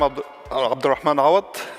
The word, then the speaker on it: Abdelrahman Awad: hello everyone um I am abdan a that's how to pronounce my name it's a little hard I